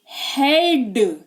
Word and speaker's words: head: जी हाँ, तो ई और ए लिखा हुआ है ना किसी भी वर्ड में अगर, तो आपको ये वाला उच्चारण फॉलो करना है। जैसे कि HEAD, हेड, यानी कि सिर, है ना।